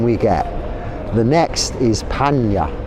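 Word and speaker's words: paññā: The next is panya. Panna, it's spelt panya, pronounced, because N is like a Y in some words in Pali.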